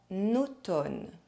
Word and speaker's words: automne: En automne.